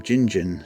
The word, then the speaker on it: Gingin: area made in 1836 shows the name jinjin spelled with J's but a survey later by WL Brockman in 1843 shows the spelling as it is today spelled with G's the name comes from